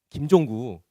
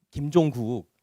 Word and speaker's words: 김종국: 김종구 그 가수 있잖아. 김종국. 내가 발음이 별로 안 좋나?